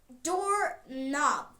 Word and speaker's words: doorknob: Another example of this, door knob. K is silent. No, we write it as K-N-O-B, but the K is silent.